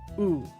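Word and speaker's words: う: U. Okay, pronounced oo as in cool.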